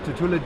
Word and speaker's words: Tutula: My boys next versus Kobe Maxwell from Tutula Jiu-Jitsu. Yeah. So Tutula's they want to make sure we pronounce their name right. It's Tutula. Tutula? Oh, I'm sorry, Tutula. Tutula It's Academy, Tutula. Jiu-Jitsu Academy, out of Corpus Christi, Texas.